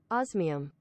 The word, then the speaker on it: osmium: is sulfur and osmium i'm gonna guess that's how you say it actually let's go ask the internet how do we say that uh oz miam there we go how do you say that let's uh let's ask the google osmium oh i got it right osmium okay good uh